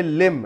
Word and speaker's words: limb: और ये लिम, LIMB, लिम यानी अंग को कहा जाता है, यहाँ पर बी को साइलेंट किया गया।